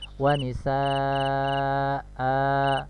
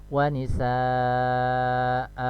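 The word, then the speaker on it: ونساء: dibaca dua harokat ya wanisa a ya bukan disukunkan bisa nyawa nisa ini salah ya jadi cara membacanya saat membaca wakafnya di hai panjang k2 harokat wanisa a hai kemudian saling keempat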